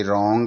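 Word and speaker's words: wrong: उच्चारण नहीं होगा और आर ओ एन जी रंग का उच्चारण ही यहां पर किया जाता है अर्थात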